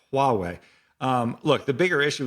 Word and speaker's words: Huawei: Well, this reminds me a lot of I know I'm going to say the name wrong. Huawei situation. It's Huawei.